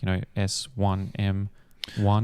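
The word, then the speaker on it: S1m0ne: So he works with a company to create like this AI digital actress called Simone, but it's pronounced like Sim. So like, S1M One.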